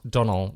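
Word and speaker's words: Domhnall: pronounce the m it's Donald Gleason there's no M his first name is pronounced Donald with the m being silent this sounds like we're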